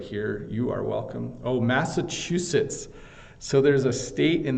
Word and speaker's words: Massachusetts: And I might even be pronouncing it slightly wrong because there's local pronunciations of different things, but Massachusetts is how I would pronounce it.